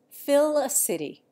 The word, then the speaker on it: Felicity: And Felicity, originally Félicité, is Fill-a-City.